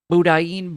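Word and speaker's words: boudin: It's pronounced budane with a soft N French ass word. Budan. Budane. Budin.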